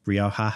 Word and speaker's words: Rioja: And one of the most famous ones now is Rioja, also known as Rioja. I think you can pronounce it both ways.